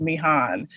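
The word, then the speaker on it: Mihan: am and then the the name m-i-h-a-n i think it's pronounced me han she's i think she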